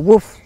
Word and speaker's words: WWOOF: it was called and i realized it was pronounceable woof so um we went